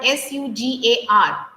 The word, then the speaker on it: sugar: How do you pronounce that word s u g a r search? No s u g a r that which we add in the sugar. Sorry sir. Sugar. Sugar. Sugar. Not sugar. Sugar.